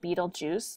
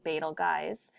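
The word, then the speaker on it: Betelgeuse: So here Betalgeist many people pronounce it Beetlejuice but it's re really Betalge is marked as an alpha star.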